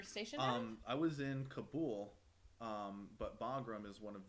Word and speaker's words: Kabul: I was in Kabul, but Bagram is one of the main hubs.